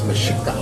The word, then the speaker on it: Mexica: called it Mexico because they couldn't pronounce the X, in the indigenous language was pronounced shit. Yeah. So it was Mexica. Oh, wow. And so it's not really supposed to be Mexico, it's Mexica.